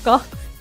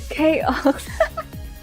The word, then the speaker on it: K-Ox: Cox. Not Cox. K-Ox.